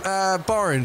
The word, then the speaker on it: Borange: Yeah, Tim, Borange. For when you need something to rhyme with orange, you call Borange.